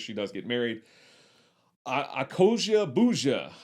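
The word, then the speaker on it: Akosua Busia: does get married i accosia bouja i looked up an interview with her and they pronounced her name so it's a koji bouja plays her sister neddy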